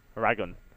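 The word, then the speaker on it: Eragon: I know it's from the book series, right, which I believe is where I think you actually are supposed to pronounce it Aragon as well. I have a friend who the book actually series read them. Yeah, is meant to be pronounced Aragon as well. Yeah, I mean it is just dragon but with an E.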